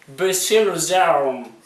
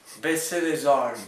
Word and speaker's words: Baisser les armes: Yeah, you have to pronounce it. Baisser les armes. Baisser les armes.